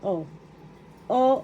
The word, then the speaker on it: oo: syllable O small letter O. O. O. The first syllable O is where the accent is.